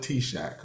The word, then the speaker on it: TSAHC: I know we call it T-Shack, but it's spelled TSAHC.